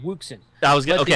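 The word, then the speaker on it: Wouxun: It's Wuxen. That's the Texas way to say it, Wuxen.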